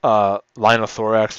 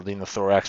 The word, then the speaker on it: linothorax: This is a linothorax or linothorax, depending on how you want to pronounce it.